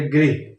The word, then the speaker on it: गृह: बातें बोल देते हैं जैसे गृह मंत्री बोलना होता है तो बोलते हैं ग्रह मंत्री है ना ग्रह तो नक्षत्र होते हैं प्लेनेट होते हैं तो गृह मंत्री को गृह मंत्री